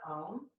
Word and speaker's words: Om: The universal healing sound of Om. It has 3 syllables, kind of. It's the vibration that all living things resonate on. It's A-O-M.